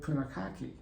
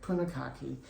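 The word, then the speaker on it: Punakaiki: we really wanted to do was go to Punikaiki. Mm-hmm. Did I pronounce it You the way did. you wanted? Yeah. Okay, Punikaiki.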